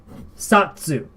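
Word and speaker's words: 冊: We have a different counter for them, and it's called, ours right here, Satsu.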